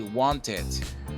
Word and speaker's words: wanted: In the case of this last verb, the pronunciation changes, and besides, we add an additional syllable. It used to be want, one syllable, and it's going to be wanted, two syllables.